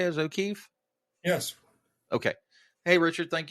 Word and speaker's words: O'Keefe: Is O'Keefe?